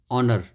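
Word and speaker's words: honour: H silent ऑनर यानी सम्मान करना इसको ऑनर बोलेंगे और हावर को नहीं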